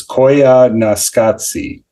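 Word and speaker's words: Koyaanisqatsi: the pronunciation right now so it's Coya Nasi um and it's just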